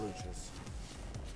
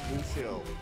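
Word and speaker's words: Lúcio: Lucius. Luscious? Lucio. Dumbass. Say it right.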